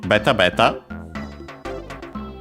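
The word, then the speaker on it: べた: And then we also have actually beta as an onomatopoeia. This one actually accented as usual.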